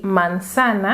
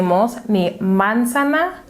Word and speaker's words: manzana: We pronounce it like this: "manzana ," because the accent, the emphasis that we are going to give it, is on the second syllable: "manzana." Therefore, we do not say "mánzana" or "manzaná".